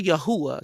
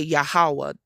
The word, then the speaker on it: Yahweh: Some people say Yahuwah, so I don't really fight over the name. It's just how you pronounce it. I say Yahweh. That's how I say it.